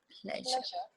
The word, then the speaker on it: pleasure: get confused with ger it's pronounced pleasure and vision and at the end of the word beige now you try listen and